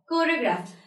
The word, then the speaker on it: choreograph: So see over here, when we are pronouncing these words, the letter H is not at all pronounced. It's when, where, honor, choreograph.